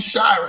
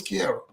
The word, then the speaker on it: Chiara: So now I want to be calling you Shira. And I've been calling you for months. It's just been Shira.